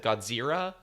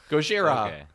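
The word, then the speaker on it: ゴジラ: because they thought with people in Asia said Gojira they were saying they were mispronouncing the elves which isn't true the name of Godzilla originally was gods era in the original movies hmm but Zilla make sense Gojira Gojira yeah sure and people were like Godzilla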